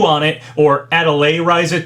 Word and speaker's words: Atelier Ryza: So this potential Nintendo Direct leak had Atelier Ryza 2 on it, or Atelier Ryza 2, that's how people have told me it's pronounced.